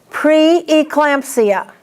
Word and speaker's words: preeclampsia: Now this word has two E's, and you have to pronounce both of them, but you do not hyphenate this word, according to the AMA. Preeclampsia.